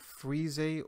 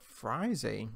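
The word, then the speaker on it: frisée: popular leafy green are also known as fries a or fries a that's right so whether you want to pronounce it frizzy or fries a take a look at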